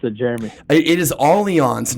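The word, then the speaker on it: Allianz: do a lot of work i knew you pronounced it jeremy it is all eons not alliance just for the record and we are piranha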